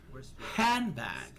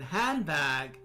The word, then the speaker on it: handbag: The D sound in handbag becomes a B sound because of the following B that handbag. So the D sound in hand becomes a B sound because the following B making a handbag.